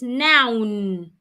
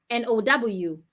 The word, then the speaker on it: noun: n o u n is noun now n o w noun n o u n